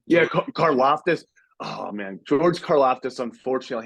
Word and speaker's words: Karlaftis: Yeah, Karlaftis.